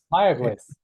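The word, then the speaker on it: Mayagüez: How do you pronounce Mayaguez again, Alberto? Mayaguez. Mayaguez.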